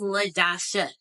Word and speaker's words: Ladasha: it oh cool so my name is Le Dasha three syllables all A's l a